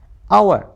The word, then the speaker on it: hour: ठीक है, आवर, HOUR। अब देखना जरा, HOUR, यहाँ पर भी आर साइलेंट रखना है।